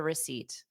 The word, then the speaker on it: receipt: I don't need a receipt. No, I don't need a receipt. Exactly. So I would say, to be honest, phonetically, the RE is more of a RUH, because it's not re, it's ruh.